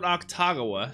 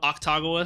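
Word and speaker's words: Akutagawa: I'm just going to let me know if Octagawa sounds okay. People say, like, don't even pronounce the U, you know? Like, keep making it okay.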